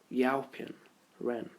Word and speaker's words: Yaopin Ren: Yaopin Ren. That's exactly how you say it as well. You got it spot on.